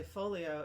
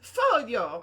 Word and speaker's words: Foglio: check-in desk said ah folio oh it's a photo and I'm probably still pronouncing it horrifically but um yes it is a not only a silent G it's a heck of an Italian G um and yeah and